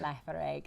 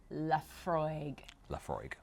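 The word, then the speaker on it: Laphroaig: All vowels. All vowels. Lafargue. Lafargue. Now, I'm sure you'll have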